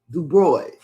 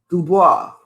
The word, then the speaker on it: Dubois: dubois place southeast dc dubroy dubois however you want to pronounce it dc fire ems reports